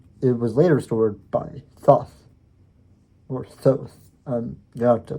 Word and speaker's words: Thoth: It was later restored by Thoth, or Thoth. You have to look up that pronunciation because I've heard it different ways.